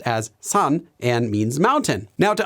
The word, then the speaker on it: 산: actually written using this Chinese character which is pronounced as son and means mountain now to understand that I